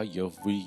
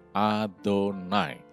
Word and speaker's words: Adonai: Ingat, kata Tuhan di dalam bahasa Ibraninya dituliskan sebagai Yod-Heh-Waw-Heh, tapi bacanya adalah Adonai. Bukan Yehova, Yahweh, Yahweh, Yahweh, dan seterusnya, bukan. Adonai. Tetragramaton ini bacanya adalah Adonai.